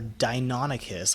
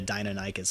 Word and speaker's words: Deinonychus: know the Deinonychus our Deinonychus I'm sorry I've always mispronounced that so I've always been calling it a dino Naik is for like ever the Deinonychus is actually